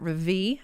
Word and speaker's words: Rêvée: who is the founder and medical director at Ravi Aesthetics I said it right in Richmond Virginia